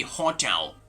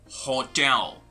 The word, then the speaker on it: hotel: not going to be hotel but rather hotel hotel like the stress is at a different position what about this